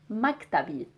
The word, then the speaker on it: مكتبي: So my office or my desk, it would be مكتبي. مكتبي. So we are just adding the E sound at the end to make it mine.